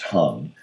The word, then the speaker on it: Hang: first came in contact with the hung it's pronounced hung and so let it be known that I